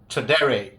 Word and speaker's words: Tradere: The Blackland Tradere, that's how it's pronounced.